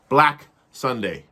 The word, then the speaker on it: BlaK SundaY: BlaK SundaY. B-L-A-K, that's capital K at the end. Sunday, spelled like the day, but with the capital Y.